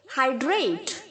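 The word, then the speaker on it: hydrate: इसे हम प्रणाम ओके हाइड्रेट हाइड्रेटेड हाइड्रेटेड यहां पर भी से है बच्चों हा के आगे जो वही हैं उसे हम आई की तरह प्रोनाउंस करेंगे ओके हाइड्रेट हाइड्रेटेड हाइड्रेटेड जल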